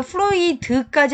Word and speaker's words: fluid: Flu e에다가 원래는 이드죠. 플루이드인데 이 디귿 발음이 앞에 있는 종성으로 간다. 그래서 플루이드 이렇게 빨리 하죠. 문장이 이렇게 전체 문장일 때는 원래는 플루이드 이렇게 약하게 하는데 빨리 발음할 땐 플루이드 이렇게 해요.